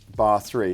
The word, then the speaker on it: barre3: Sadie, tell me a little bit about barre3. Is that how you pronounce it?